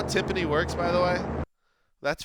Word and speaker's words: timpani: Timpani? Timpani? Did we ever get the correct pronunciation on that?